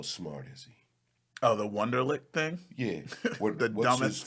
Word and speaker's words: Wonderlic: Is it spelled like a last name? Like Wonder It's W- LIC. Yeah. what? No, Yeah, it's weird. It's WU. Oh, it is. You're right. WU is German. Yeah, I was thinking it